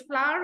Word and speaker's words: flour: have run out of flow and eggs snows knew that you can't make a cake without flow without flour and eggs okay it's flower only you are correct in your pronunciation Kanan and when we